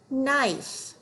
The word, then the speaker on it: knife: Remember that K is silent when it's followed by an N. Let's read those words. Knack, knee, knife.